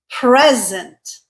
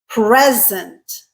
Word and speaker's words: present: Present, second syllable stressed, verb, check. Present, first syllable stressed, noun, check. So including conduct, we are 4 for 4 so far.